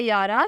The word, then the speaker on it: YAARA: नाम है यारा, स्पेलिंग है YAARA।